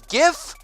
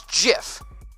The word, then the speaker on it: GIF: do you pronounce gif you pronounced with a hard G or a soft G so you either pronounce it as gif or you pronounce it as jiff okay gif or Jif